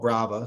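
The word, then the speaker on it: Braava: Now it's called Brava, so it rhymes with Roomba.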